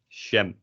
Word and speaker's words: jam: we also don't pronounce the word for jam in dutch is also written like that we say shem i'm not sure why